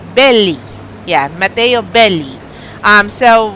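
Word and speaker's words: Bellei: or is it belly I keep mistaking how to pronounce his last name it's b-e-l-l-e-i but he said belly yeah Mateo belly um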